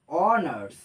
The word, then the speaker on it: অনার্স: আর একটা অনার্স, অ্যান অনার্স, কারণ এইচ এটার উচ্চারণ হচ্ছে না তো।